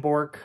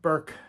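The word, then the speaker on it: Bourke: an old Dooney and bork um Burke however he is I've heard it pronounced both ways Dooney and Burke um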